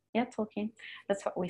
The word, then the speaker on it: Tolkien: quote from I don't even know how to pronounce his name in English. It's Tolkien. How do you say his name? Yeah, Tolkien.